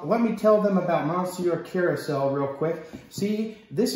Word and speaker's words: monsieur: this online this is called monsieur carousel it's pronounced monsieur and i would know because i'm french i